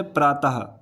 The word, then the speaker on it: प्रातः: बात करते हैं विसर्ग की, तो इसका उच्चारण हा के समान होता है। जब हम किसी का उच्चारण करते हैं जैसे प्रातः, लास्ट में हा आ रहा होगा अतः, तो ऐसे इसका उच्चारण होता है, इसे कहते हैं विसर्ग।